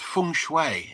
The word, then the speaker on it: feng shui: Get your pronunciation right. So, it's Feng Shui if you don't mind.